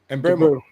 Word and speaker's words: Mbeumo: Mbeumo.